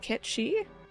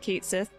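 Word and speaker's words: Cait Sith: a new party member I think it is technically pronounced Kechi but I always said Kate Sith so I might flip-flop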